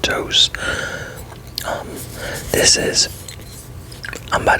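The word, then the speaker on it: Tous: It's a Spanish company, so it's pronounced Dose.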